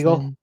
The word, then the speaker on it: Seagal: Um but yeah, no, I I think that uh um Seigal, how did you just pronounce his last name? Seagull. Seagull. Seagal.